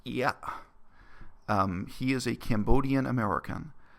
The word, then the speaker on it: Ear: His family name is spelled E-A-R. I assume it's pronounced Ia.